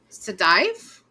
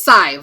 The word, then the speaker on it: Sadhbh: So she said it was Sadive, I think. Usually Sive. Sive, that's what it was. Yes. I kept putting the D in there. It was Sive. That's what she told me. Sive rhymes with 5.